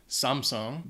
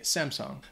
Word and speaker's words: Samsung: Vuitton number 11 Samsung it's a Korean company so I think the the correct pronunciation technically would be Samsung but a lot of